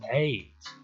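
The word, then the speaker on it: Ayds: Those were called AIDS. 1 year later, a first case of AIDS was detected. Although it spells a bit differently, it is pronounced the same.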